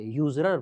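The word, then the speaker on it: usurer: असरर का मतलब तो है सूदखोर, ऐसे याद रखते हैं, इसको असरर नहीं पढ़ते, यूजरर पढ़ते हैं।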